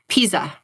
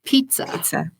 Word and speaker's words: pizza: of Pisa, but it's pizza. So that's just one example of how if you don't hear the consonant in that word, you are going to pronounce it differently yourself.